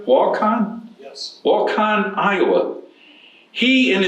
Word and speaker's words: Waukon: Paul grew up, am I pronouncing this right? Waukon?